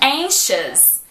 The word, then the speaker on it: anxious: A mesma coisa com anxious. Anxious. E a mesma coisa com curious. Curious. E dangerous. Dangerous. Então presta atenção. Se você vê a palavra com O-U-S, você sabe que o som é de us.